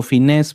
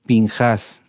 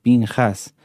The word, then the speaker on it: Pinjás: Como les decía, se traduce como Finés, pero no es correcto. Lo correcto es Pinjas, Pinjas, así se pronuncia, Pinjas.